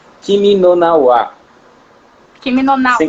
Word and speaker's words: Kimi no Na wa: Mas o nome do filme, salvo engano, é o Kimi no Na wa. Kimi no Na wa. Assim que você pronunciou? É, isso aí. Kimi no Na wa, e hoje vai ser corte em cima de corte.